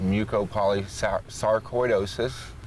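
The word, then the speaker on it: mucopolysaccharidosis: It's pronounced mucopolysarcoidosis 1.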